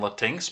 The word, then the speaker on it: Latinx: yankees for using the word la tinx you're saying it wrong it's latinx in late may at